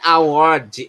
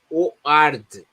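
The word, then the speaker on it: O'Ward: Não é Award, é Oard. Award. Award é prêmio. O Award é o nome do piloto.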